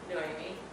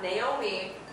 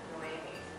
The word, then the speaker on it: Noémi: Hi everybody, this is my friend Noémi, not Naomi, Noémi.